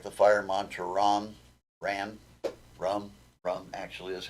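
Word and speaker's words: Ram: And if it's, an elemental mantra like the fire mantra Rum actually is how it's pronounced, spelled R-A-M, pronounced rum, or actually more like rung, like a rung on a ladder, R-U-N-G, but it's spelled R-U-M, or R-A-M, sorry.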